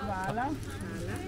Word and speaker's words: hvala: Hvala, I think. Hvala.